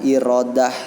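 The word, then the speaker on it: إرادة: maha berkehendak sejauh yang dibacanya irodah ya tulisannya iradah Hai sifat iradah ini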